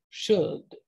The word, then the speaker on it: should: shao um and so it basically had the pronunciation of like child or showed but over time the l became very soft almost silent and then eventually did become silent should she should in the